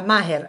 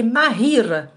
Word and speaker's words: ماهر: ماهر سي حنا quand on prononce هاد لو برينون ماهر on le prononce comme ça ماهر alors que c'est ماهير.